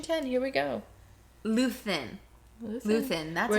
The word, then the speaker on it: Luthen: I just realized you said Lutheran.